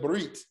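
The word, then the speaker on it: ברית: So normally it will be bah, right? Normally that will be bah. But we don't say Barit, Barit. Why? The Shiva says, hurry up.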